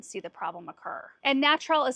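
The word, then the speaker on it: Gnatrol: And I've also got natural right here.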